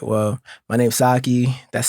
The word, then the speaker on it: Saekyi: you introduce yourself all right well my name's sake that's spelled s-a-e-k-y-i I'm a independent artist from Northern